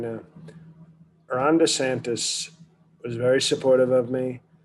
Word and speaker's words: DeSantis: you about this um desantis is that hey de santos is that how you pronounce his name no no i wouldn't support him if he had a latino name ron desantis desantis as i thought and he right now is